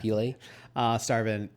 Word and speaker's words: Peele: You have to pronounce that last The E, yeah. Peele.